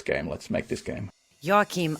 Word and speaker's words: Joakim: The Finnish version is Joakim. Joakim.